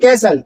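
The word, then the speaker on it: castle: नहीं बोलता है सिर्फ कैसल जो मैंने ये ग्रीन में लिखा हुआ है कैसल ये कैसल होता है टी नहीं बोलता है ये साइलेंट होता है माय डियर इसी तरीके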